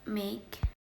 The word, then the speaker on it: make: mark consider our word make the e at the end is silent so it does not appear in the transcription something similar happens in